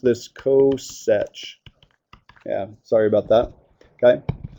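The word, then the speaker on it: coth: cinch coin okay so that would be the coin guess how it's defined it's the reciprocal of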